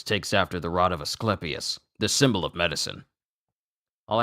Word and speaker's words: Asclepius: is Aus a a aspius aspius oh my goodness ah this is going to words the rod of a a asclepius i I was saying it wrong asclepius asclepius Rod of asclepius we're I'm learning so